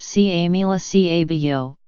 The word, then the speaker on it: Camila Cabello: here Ms Cabello xx whose name is pronounced SIA Mila CA vo revisited ground zero of